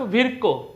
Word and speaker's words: Virchow: में आते हैं रोडल्फ विर्को। क्या है नाम उनका, रोडल्फ विर्को। रोडल्फ विर्को या फिर आप विर्चो भी बोल सकते हैं, जो भी प्रोनाउंसिएशन आपका मर्जी।